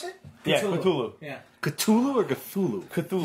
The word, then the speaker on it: Cthulhu: Yeah, Cthulhu. Yeah. Cthulhu or Cthulhu? Cthulhu. Yeah, Cthulhu. I'm going that Yeah. way. You can hit the T hard if you want.